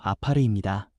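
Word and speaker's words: עפר: 먼저 여기서 흙이라는 말은 히브리어 발음으로 아파르입니다.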